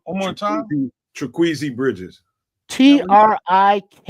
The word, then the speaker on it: Trikweze: So I got a cousin named Kwesi, which is spelled very similar, but add all that extra onto it. I don't know what you do with it. This one is that try on top of it.